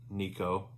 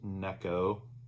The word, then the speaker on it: Neko: Some people call it Nico, but it's pronounced Neko.